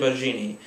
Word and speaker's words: Baggini: Baggini? I don't know, it could be Italian. I think it might be spaghetti. Julian Spaghetti? Possibly. It's Julian. Carry on. Oh, okay. Okay. It's Julian Baggini.